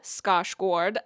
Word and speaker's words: Skarsgård: about its lead performer bill scos that's the Swedish pronunciation I cannot speak Swedish